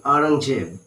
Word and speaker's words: Aurangzeb: Okay, now the story goes that Aurangzeb, actually pronounced like Aurangzeb, banned the playing of a musical instrument called pungi.